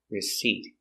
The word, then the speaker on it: receipt: word is receipt and remember with receipt the p is silent don't pronounce the p receipt so the receipt is the piece of